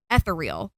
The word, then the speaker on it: ethereal: When I first saw the word ethereal, I read it as ethereal Yeah. because I had absolutely no idea how to actually pronounce it. But in my head, like when you're sounding something out, it's ethereal.